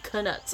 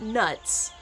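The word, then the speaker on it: Knuts: And yes, it is canuts. It's not nuts. The K is not silent.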